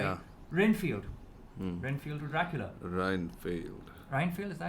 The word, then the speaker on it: Renfield: Reinfield, is that how you pronounce it? Yeah, Reinfield.